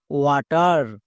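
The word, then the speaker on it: water: আর sound করতে হয় তাহলে ওয়াট প্লাস আর ওয়াটার ওয়াটার এই ওয়ার্ডটি সবারই পরিচিত ওয়ার্ড কিন্তু এখানে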